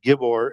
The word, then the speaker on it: gibbor: is um you know how we would pronounce mighty one is gibbor gibber which is used to describe giants.